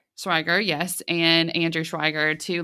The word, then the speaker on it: Schweiger: Schweiger, yes, and Andrew Schweiger to launch Odaptix, whose mission is to provide organizational diagnostic data and insights not previously available.